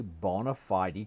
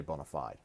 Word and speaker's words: bona fide: say college education is that it is a bona fide qualification that's what it's referred to must be